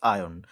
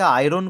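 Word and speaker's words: iron: The gate is made dash আয়ন। উচ্চারণটা অনেকে আয়রন করে দেয়, আয়রন হয় না কিন্তু, আয়ন উচ্চারণটা।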